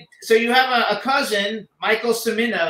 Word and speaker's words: Cimino: So let's just, you have a cousin, Michael Cimino. Is that how you pronounce his name? Cimino? Cimino. Cimino.